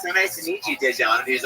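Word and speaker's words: Daegen: His name is spelled D-A-E, which is day, and then it's G-E-N.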